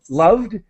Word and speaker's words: loved: And just the pronunciation of loved, a D sound as quick as possible. Loved, no extra syllable.